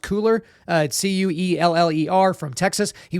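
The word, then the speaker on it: Cuellar: representative henry i think his last name is pronounced cooler uh c-u-e-l-l-e-r from texas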